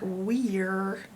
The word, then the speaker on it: were: Were, which is an E-R. Like a pirate. And the other tricky part is there's another E on the end of were. So this is very tricky. You have a bossy R and an E that's not doing anything but sitting there just for looks. You can't hear it, and it's not magical. It's not making this say E like we're. It's were.